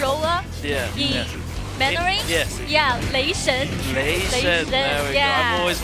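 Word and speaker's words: 雷神: Yeah, Lei Shen.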